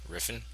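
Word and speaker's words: Refn: pronounce his last name r i FN what do you do with that riffin yeah I'm just gonna like like Griffin but riffin exactly but yeah um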